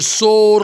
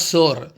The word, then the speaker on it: soar: So he started thinking, yes, one day I should soar like an eagle. Soar. S-O-A-R. See, S-O-A-R, soar means to rise up. Always there is a confusion. The mangoes are sour. It is not sour.